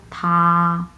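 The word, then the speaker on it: 他: হি হি আমরা কীভাবে বলবো, থা থা প্রথম টন, সো খুবই ফ্ল্যাটভাবে উচ্চারণ করব, থা থা মানে হচ্ছে সে, এটা হচ্ছে পুরুষ লিঙ্গ।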